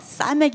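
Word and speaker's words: ס: 바로 사메크 입니다 . 사메크 . 똑같은 것 처럼 느껴지지 않나 요 ? 이 사람 이 사메크 입니다 . 사메크 . 원 , 사메크 . 's' 발음 이에요 . 'S' 입니다 .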